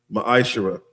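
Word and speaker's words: מעשר: It means 10th in the Hebrew is pronounced maisher.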